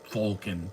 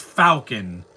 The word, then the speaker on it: falcon: Fulcon. That's the stupidest thing I've ever heard. It's falcon, not ful.